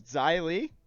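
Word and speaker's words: Xia Li: know how to say that um is this zylie is that how you say it yeah okay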